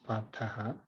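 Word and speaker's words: Pārthaḥ: I might not have pronounced Parthaha, probably. I don't know. I didn't realize that I was saying it right. So it's Parthaha. Okay. Because if it is Partha, then somebody must be addressing Arjuna, Partha or Partha, like that. But here, Parthaha, Arjuna is doing something.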